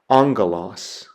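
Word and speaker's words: ἄγγελος: The Greek word that I have there is the word for angel or messenger, and so it's pronounced angelos, angelos.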